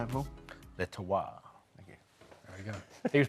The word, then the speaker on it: Le Terroir: Le Terroir.